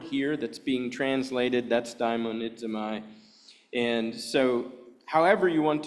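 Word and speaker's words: δαιμονίζομαι: In other words, the Greek word, if you're not familiar with it, I'll just pronounce it daimonidzomai, daimonidzomai. That's the Greek word for that, but we translate it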